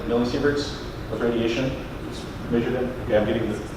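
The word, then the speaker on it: millisievert: that we did much with radiation but uh millisevers did I did I pronounce that correctly millisevers with radiation measured it?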